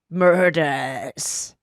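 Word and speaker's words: Murdaugh: I just last night got into the murder murders well how do you say the name Murdoch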